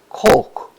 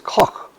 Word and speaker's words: Koch: The next one is Koch, is the way it is pronounced now, but that's incorrect. Rick, who is an expert and a teacher of German, pronounces it the correct way, as far as I know it, is Koch.